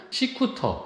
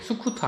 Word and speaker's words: Seacooter: 정식으로 수입을 하고 있고 c쿠터 스쿠터 아니고요 C 쿠터 발음 주의하셔야 돼요 c쿠터 제품을 좀 소개를